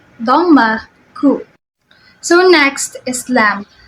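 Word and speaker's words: لام: dma so next is lamb lamb is pronounced similarly with the English L with the tongue touching the bumpy area behind your upper teeth to practice to master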